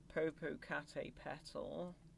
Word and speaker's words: Popocatépetl: Here's another one for me to screw up the pronunciation for. Popocatépetl.